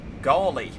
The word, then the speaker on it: Gawley: Gawley. My name is pronounced Gaul, like ball, and E. Gawley.